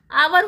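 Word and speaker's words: hour: लेकिन हावर नहीं होता। वह आवर होता है। एच जो होता है वह साइलेंट रहता है।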